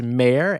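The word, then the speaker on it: Maher: season bringing in brett i believe it's pronounced mayor m-a-h-e-r i'll double-check on it but brett mayer who's going to be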